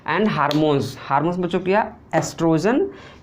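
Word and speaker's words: oestrogen: और ई है एस्ट्रोजन, तो एस्ट्रोजन ओ साइलेंट होता है, ठीक है। कहीं कहीं आपको ओ नहीं मिलेगा, ई क्यों मिलेगा, एस्ट्रोजन ही होता है, तभी कोई दिक्कत की बात नहीं है।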